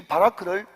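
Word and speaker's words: ברך: 근데 이 바라크를 히브리 말로 쓰면요 비옵, 리을, 키옵 이렇게 써놓고 바라크라고 읽는 거예요.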